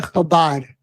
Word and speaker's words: Chabad: Chabad. It uh Chabad. Yeah, but it's not the C H.